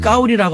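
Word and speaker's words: 高丽: 발음을 까오리라고 하는데 나는 까오리 고려라는 이름을 갖고 있어.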